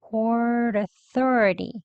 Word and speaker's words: Port Authority: 여기 트 소리 flap t로 발음해 주셔서요. Port Authority 이렇게 발음한 거예요.